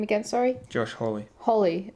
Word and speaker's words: Hawley: Yeah, I know, because this guy is basically, how do you pronounce his name again, sorry? Josh Hawley.